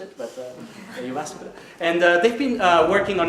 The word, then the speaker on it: Jyväskylä: Yeah, I learned to pronounce it, but Jyväskylä.